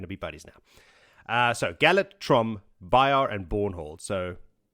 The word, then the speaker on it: Galad: here, and first up is a POV from Galad, or as most people seem to pronounce it, Galad.